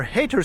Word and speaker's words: Hayter: so here we are hater street although it is spelled with y but it's still pronounced the same way and it is literally